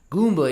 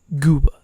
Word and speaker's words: Gooba: Say it right, bro. What is it? Gooba. Not Goomba. What did I say? Goomba, like Super Mario Goomba. Yeah, just don't disrespect 6ix9ine like that, please. It's Gooba.